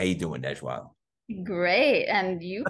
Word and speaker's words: Najwa Zebian: Please welcome the persistent, resilient, and wise, the beautiful, brilliant, and soulful Najwa Zebian. How you doing, Najwa? Great. And you pronounced my name perfectly.